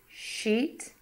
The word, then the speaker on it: sheet: Sheet versus shit.